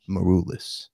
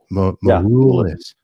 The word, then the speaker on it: Maroulis: Constantine Maroulis. Did I say it right? Cool album cover. Maroulis. It's Maroulis.